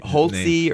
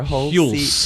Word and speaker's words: Hulce: Tom, and I can never pronounce his correct name. Hulce or Hulce? Hulce.